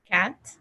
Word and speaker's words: cat: So the C is explosive, right? It's like cat. You don't say, in Spanish, you say cartón, right? And the C is not that explosive. But in English, you say cat.